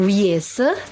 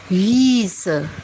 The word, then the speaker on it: Wiese: Ya, jadi bukan Wiese tapi Wiese. Jadi huruf I-nya dibaca panjang.